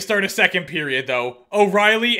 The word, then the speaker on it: O'Reilly: a second period though O'Reilly and Riley they're both spelled different ways pronounced the same halfway through the game